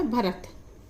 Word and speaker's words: भारत: रा और टी से ता, तो ये होगा भरत। लेकिन यदि नाम भारत लिखा जाए तो स्पेलिंग अधिकतर यही लिखी जाती है, लेकिन अगर